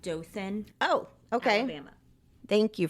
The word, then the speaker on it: Dothan: him Katie's mother Mona hartling eventually moved to Dothan Alabama to be closer to her sister and